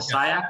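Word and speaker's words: SCIAC: guys are in right it's called the syack is how you say it yes kayak kayak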